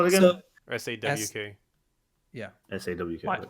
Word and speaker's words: Sawk: SAWK. Like hawk, but an S.